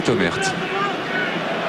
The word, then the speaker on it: Thomert: Thomer, hein, il paraît qu'il ne faut pas prononcer le T. Eh bien Thomert. Oui, j'ai reçu du courrier Comme ça. de la famille, du reste, que je remercie. Et il faut dire Thomer. Le thé est muet, comme dirait l'autre.